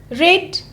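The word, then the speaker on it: read: ट और गि gave रीड spelling will be रीड बट पढ़ना है आपको रेड स्टडी स्टडीड वच वच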